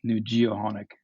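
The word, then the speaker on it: Nujio'qonik: for for Bay St George so it's project new geonic is the pronunciation thank you um can you tell us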